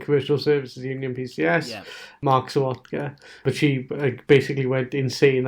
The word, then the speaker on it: Sawotka: So is it Sawotka or Savotka? It's Sawotka, the way you pronounced it.